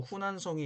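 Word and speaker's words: 湖南省: 지금은 동정호, 즉 뚱띵호 북쪽에는 호북성, 중국어 발음으로 후베이성이 있고, 남쪽에도 호남성, 중국어 발음으로 후난성이 있습니다.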